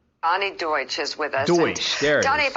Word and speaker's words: Deutsch: Donnie Duchesse, if I'm pronouncing that right.